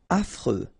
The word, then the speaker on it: affreux: Affreux. Final X not pronounced. And then you get this freux, freux, affreux.